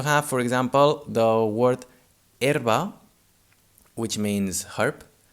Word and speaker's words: herba: erba which means herp herba is spelled h e r b a here the strong syllable is the first one er erba and the second one ba is in a weak syllable it's a spell with a but sounds uh so we say erba we do not say er like this i